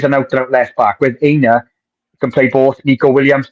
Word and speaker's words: Aina: I keep on for Aina. That's how I pronounce it. Aina.